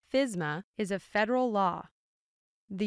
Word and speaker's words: FSMA: Safety Modernization Act commonly shortened to FSMA and pronounced FISMA is a federal law the US Congress passes